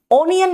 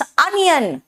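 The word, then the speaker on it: onion: sound है ओ mode ओनियन नहीं होता इट्स अनियन अ कॉट O good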